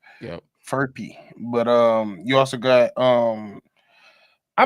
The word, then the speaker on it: Furphy: I think it's how you pronounce it. That is such a bad fuck because I'm like Murphy, but it's an F. Yep. Furphy.